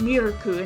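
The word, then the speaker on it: ミルク: She says Anna, Miru, and Jet Senpai's names for the first time, though she calls Miuku milk because it's pronounced Mirku in Japanese.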